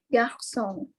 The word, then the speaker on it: garçon: Garçon. Iya. Merci. Benar. Merci dari Yang. Jadi bacanya adalah garçon ya, sudah benar.